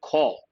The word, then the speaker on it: corps: of this particular word call what is the spelling c-o-r-p-s but how do you pronounce it call r-p-s all silent call so the right word